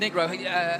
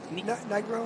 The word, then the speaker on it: Nigro: You mentioned Negro. Is it? How do you pronounce it? Nigro. Nigro.